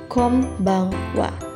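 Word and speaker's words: こんばんは: dibaca m&n Dibaca oleh adalah tulisan konbanwa tapi dibacanya Kombang Wa Ayo ucapkan bersama-sama minasan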